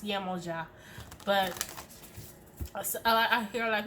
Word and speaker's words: Yemoja: Okay, I pronounce Yemoja, but I hear a lot of people say Yemaya.